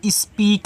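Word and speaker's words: speak: मैं आपको बता दूं अगर इ और ए कहीं आया करे तो आप क्या करा करें? बड़ी ई की मात्रा अप्लाई करा करें इनसे। तो ये आपकी यहां पे बड़ी ई की मात्रा हो गई। और के से आपका का ये देखो आपका स्पीक लिखा है। एस पी ई ए के स्पीक।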